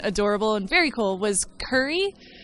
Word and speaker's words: Kuri: The thing that I saw that I thought was really cute and adorable and very cool was Kuri. Kuri as in Curry, but it's spelled Kuri.